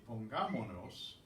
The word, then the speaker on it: pongámonos: So what they've done here is say pongámonos So what's happened is this S has dropped off. We've kept the stress on this syllable, so we have to write the accent.